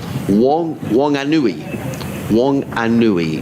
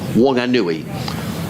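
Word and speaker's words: Whanganui: wanguni w-h-a-n-g-a-n-u-i my husband emailed yesterday this is pronounced oh here we are wong an nui w-o-n hyphen a hyphen nu hyphen ee wonganui wanganui is in is northwest of wellington on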